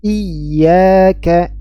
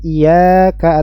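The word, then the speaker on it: إِيَّاكَ: bahas Nanti pada tempatnyab jadi bacaannya seperti ini iyaka iyaka bukan iaka atau iyaka bukan iaka Iya bukan dipanjangkan bukan juga tanpa tasid iya iya tapi ditekan dinamberkan iyaka iyaka nabudu tiib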